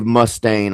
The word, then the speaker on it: Mustaine: the new lineup anyway they had uh Dave Mustaine I think is how you pronounce his name in the band at one